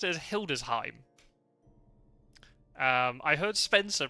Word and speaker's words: Hildesheim: When you have EI beside each other in German, you always pronounce the second one. So it'd be Heim, not Heim. So anything like Schiem wouldn't be correct. Hildesheim.